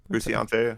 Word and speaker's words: Frusciante: But John Frusciante, is that how you say it? Frusciante.